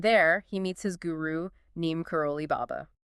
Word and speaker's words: Neem Karoli Baba: And there, he meets his guru, Neem Karoli Baba. Right, whom Das affectionately pronounces as Neen Curl Baba.